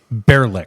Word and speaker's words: Baerlic: imagine if you took the word Gaelic. It's spelled like that, but it's bear or beer.